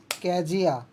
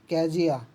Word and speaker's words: Kezia: कैजिया। कैजिया, ठीक है, उसको काजिया भी बोल सकते हो, कैजिया है ऐसे नॉर्मली, इसका मतलब प्रोनाउंसिएशन थोड़ा गलत हो जाता है, ठीक है।